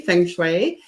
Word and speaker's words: feng shui: pronounced many ways and uh thank you for pronouncing it correctly feng shui um really it's very very simple it's it's